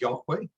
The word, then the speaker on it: Yahweh: Yod Het Vav Het, which roughly comes out to this, approximately thought to have been pronounced as Yahweh.